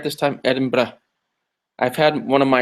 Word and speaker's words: Edinburgh: We're going to be in London, and we're going to be in Edinburgh. No, Edinburgh. Did I say it right this time? Edinburgh.